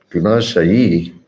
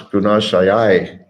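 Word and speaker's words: गुणाशयैः: Bhutendriya Gunashayai Gunashayi. No, it's Gunashayai. AI is pronounced I.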